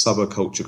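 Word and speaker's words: Subbacultcha: l t c com so that's sub culture com okay and Steve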